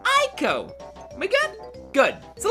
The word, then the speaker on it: Ico: it is spelled eco you were to replace the e with an eye you pronounced the word Aiko oh my god good